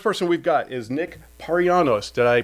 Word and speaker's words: Parianos: So, uh, first person we've got is Nick Paranos. Did I pronounce that right?